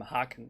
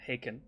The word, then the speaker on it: Haken: or sorry i'm german i pronounce them hack i know they're haken but where whatever hackens